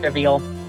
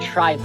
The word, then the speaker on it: trivial: Trivial. You pronounce it trivial. I did? No, you pronounced it tribal. It's trivial. Yeah, I don't know why I did that.